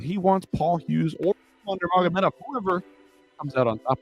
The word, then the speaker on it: Nurmagomedov: That is not how you pronounce it. Nurmagomedov. He skipped all the R's and the M's and just went right to the NG, but I suppose maybe that's the British accent in him.